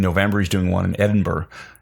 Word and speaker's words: Edinburgh: I think in November he's doing one in Edinburgh.